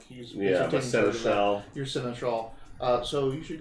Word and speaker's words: Seneschal: Not Senator. It's a Seneschal.